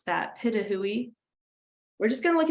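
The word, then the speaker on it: Pitohui: It's called Hooded Pitahui is how you pronounce that, Pitahui.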